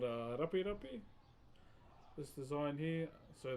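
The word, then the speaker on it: rape: The design here is called Rapi Rapi. This design here, so the way it's spelled, please don't get it twisted with English, is R-A-P-E. R-A-P-E is how you spell it.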